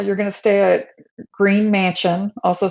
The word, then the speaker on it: Gruene: So let's go with Green, Texas, which is spelled like Groon, but it's Yes, you need green. spell it It's Gruene, and it right is pronounced green.